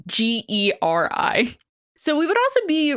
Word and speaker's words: Geri: Jerry is not spelled the same way the English name is, and I'm pretty sure that's right, but it's Geri.